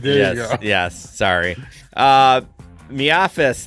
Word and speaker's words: MIAFS: Miafis, that's the name we made it. We made it it's Miafis, but that's just the gig economy pronunciation.